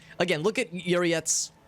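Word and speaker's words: Yrliet: Again, look at Uriet's... Or Yurliet's... That's how you pronounce it. Yurliet.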